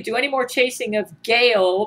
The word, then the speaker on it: Gail: any more chasing of gaale pronounced like my name uh spelled GA A1